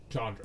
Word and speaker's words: Chandra: Or Chandra, but it's know. definitely the soft A. Yeah, Chandra.